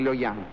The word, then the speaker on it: Luoyang: Las dos capitales imperiales del Imperio Han, Chang'an y Luoyang, lo pronuncié mal, ¿eh? Es Chang'an y Luoyang.